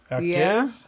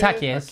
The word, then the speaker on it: Jaquez: Well, the J is an H. Jaquez? Yeah, I think it's Jaquez.